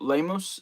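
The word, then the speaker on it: Lemus: dude Fern the messenger Fernando lamos I believe that's how you pronounce the last name l-e-m-u-s um yeah dude he's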